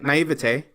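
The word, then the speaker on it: naïveté: Naivete.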